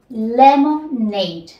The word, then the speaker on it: lemonade: Lemonade. Lemonade. Y tenemos la acentuación en este caso al final.